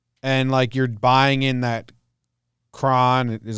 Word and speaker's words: Cron: And you're buying in that Cron, is that how you say it, and Scope can offer a jilt or something. I don't know. Nothing, man. You're a dormant fan. Crone. It's pronounced Crone.